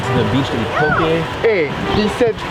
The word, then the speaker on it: poke: We went to the beach to eat poke. Hey, he said poke, not poke. Yeah. You got it.